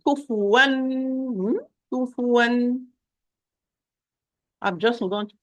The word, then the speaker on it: كفوا: So I'm going to apply izhar or clear noon or clear tanween to the tanween. Kufuwan.